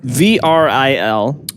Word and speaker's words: Vril: How do you spell it? VRIL, Vril.